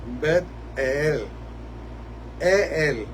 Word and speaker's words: Betel: Betel, eso se supone que se pronuncie bet e él, porque en eso es